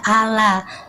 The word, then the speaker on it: Allah: O gitu tapi bacanya biasa aja. Ala karena itu bahasa Indonesia.